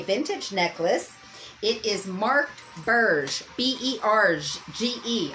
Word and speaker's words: Berge: It is marked Berge, B-E-R-G-E. I almost want to say that G is in a soft G. Say B-E-R-G-E, like G-E appliances.